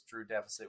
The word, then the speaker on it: Drewxdeficit: The X is silent, so it's Drew Deficit with an X in the middle.